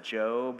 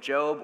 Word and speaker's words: Job: story of Job, or if you're a new Christian, Job, this is, it's what the word is. Don't feel bad at all. That's like insider info to know the right pronunciation on that one.